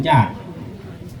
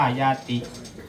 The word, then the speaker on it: ญาติ: มา บอก ความ เป็น ญาติ คำ ว่า ญาติ มา จาก คำ ว่า ญาติ นะ ถ้า อ่าน เป็น ภาษา บาลี อ่าน ว่า ญาติ ภาษา ไทย เรา ให้